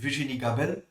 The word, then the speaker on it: Virginie Gabel: I hope I uh good pronounced your name. Vijini Gabel.